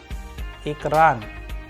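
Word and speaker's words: экран: the help of an English approximation word, A in met, met. A sample Russian word which we have used so that you understand it properly is ekran, as in ekran, which means screen.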